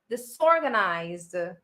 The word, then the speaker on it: disorganized: So remember, it's an S sound and not the zor. It's the sore, disorganized. Okay, remember the S, the sore. Okay, I think I talked to you about this last time. Remember, when we have the prefix this, the sound is always S.